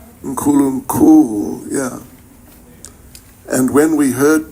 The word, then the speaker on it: Nkulunkulu: Nkulunkulu. Is that right? Nkulunkulu, yeah. And when we heard that term, it kind of flows off the tongue very nicely. Nkulunkulu.